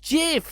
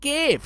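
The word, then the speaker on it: GIF: the guy who said it's pronounced jiff, not give.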